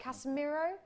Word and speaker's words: Casemiro: Casemiro? Have I pronounced it right?